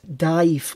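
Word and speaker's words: DIIV: would recommend another American band dive but it's spelled di IV released our debut album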